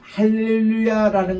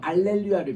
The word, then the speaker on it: 할렐루야: 여기 이제 흔히 그 할렐루야라는 것도 라틴 말로 번역하면 H가 묵음이 돼 가지고 알렐루야를 변합니다. 할렐루야 할렐루야 이렇게 불려야 될 것을 캐톨릭 미사에 가보면은 알렐루야 알렐루야 이렇게 불러요.